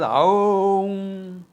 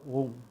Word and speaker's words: Om: Therefore, there are some idiots who will chant it as Aum. No. A and U phonetically coalesce together. That phonetic coalescing makes it O. You say it fast, Au, Au, Au, Au, Au, Au, Au. It will become O. And therefore, Om.